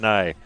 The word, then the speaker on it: Nye: Asked our board, Colby, our switcher here, and how do you pronounce that? And he probably, like everybody else, would have said new or something. No, it's Scott Nye, the radio guy.